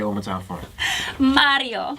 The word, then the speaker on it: Mario: say over time for Mario you gotta roll your tongue I heard you're good